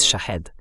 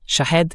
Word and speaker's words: Shahed: El nombre, la pronunciación correcta en Persa es Shahed. Shahed significa testigo, pero Shahid en persa significa mártir.